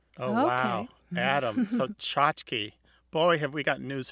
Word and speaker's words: tchotchke: T-C-H-O-T-C-H-K-E, tchotchke. Sometimes it's spelled C-H-O-T-C-H-K-I-E, or even T-S-A-T-S-K-E.